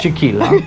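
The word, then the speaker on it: Chiquilá: I want to say Chiquila, because I want to pronounce it like tequila, but Chiquila, yeah.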